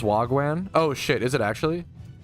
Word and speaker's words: wagwan: It's pronounced Wagwan.